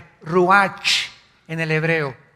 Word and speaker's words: ruach: El ruach, que se escribe R-U-A-C-H, ruach en el hebreo. Y se pronuncia igual, ruach.